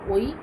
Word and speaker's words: ঐ: দৃষ্টিকে বোঝানো হচ্ছে উচ্চারণ যদিও শব্দটি ওই লেখা হয় আধুনিক বাংলায় এর উচ্চারণ ওই ও আই দিয়ে বুঝিয়েছি শব্দের কাছাকাছি ঐতিহ্য ও